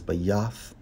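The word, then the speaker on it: בית: In the Hebrew, it's Strong's H-1004, pronounced as Bayath.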